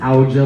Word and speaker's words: Ouija: It's pronounced Ouija board.